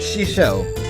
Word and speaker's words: 師匠: That's how you pronounce it. Shisho. I'm trying to pronounce it how she pronounced it in a 返 way.